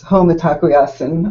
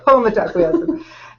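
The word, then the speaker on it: Mitakuye Oyasin: One was and I start my book with this, Home Atakuyasin, all my ancestors. That's how you pronounce that. Yeah. Okay. Home Atakuyasin.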